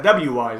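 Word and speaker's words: Wwise: uh i forget if i forget if you double pronounce the w or not but it's a w-wise it's how i say it um what you're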